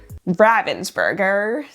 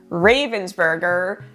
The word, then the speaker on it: Ravensburger: So I do believe that the proper German way to say it is Ravensburger, but it is so hard to change the muscle memory since I've been saying Ravensburger my entire life.